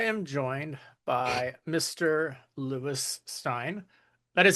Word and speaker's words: Stein: Lewis Stein.